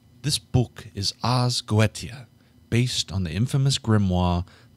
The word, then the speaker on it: Goetia: This book is Ars Goetia. That is probably not how that's spelled.